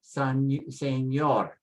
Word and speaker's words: señor: Because it ends with a consonant, you put the stress on the end, señor.